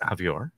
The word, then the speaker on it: Javior: special guest today javior hey here but thank you thank you thank you rhymes with behavior rhymes with behavior bad